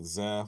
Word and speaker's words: Zeh: One of the more interesting guys to me is this guy, Jason Zeh, which I've never actually spoken to him directly, so I'm not sure if you pronounce it Zeh, but it's Z-E-H.